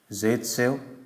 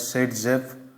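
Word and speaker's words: Zaitsev: Okay, कहाँ का है ये भाई साहब, रशिया, नाम है Russia, Alexander ज़ायत्सेव, also pronounced as सेटजेफ।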